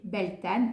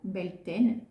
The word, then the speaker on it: Beltane: Ensuite, entre l'équinoxe du printemps et le solstice d'été, on va retrouver Beltane ou Beltane, il se prononce et s'écrit des deux façons.